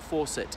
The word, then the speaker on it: Fawcett: sure what about to her yeah her surname Forsett I know it in the United Sates we pronounce faucet obviously in in in the item